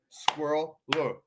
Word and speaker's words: squirrel: could be included but squirrel is intended to be pronounced as two syllables squirrel according to most dictionary